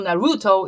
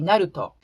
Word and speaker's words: Naruto: not the black ambassador doesn't exist in japanese so naruto is actually naruto many people were asking